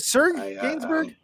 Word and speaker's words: Serge Gainsbourg: Is it Serge Gainsbourg? Sergey? I've heard it pronounced every single way.